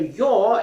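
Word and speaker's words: ё: animal oh so this this letter your is pronounced like in word yogurt yogurt yes okay another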